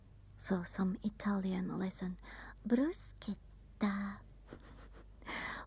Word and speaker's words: bruschetta: Bruschetta. When you see C and H, it's like a K. Bruschetta.